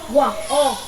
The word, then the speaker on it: walk: Walk. Bỏ qua âm L. Walk.